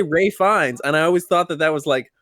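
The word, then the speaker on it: Ralph Fiennes: for the longest time because his name is spelled like Ralph I thought that his name was Ralph and that like like well no because I I had heard people say Ray fines and I always thought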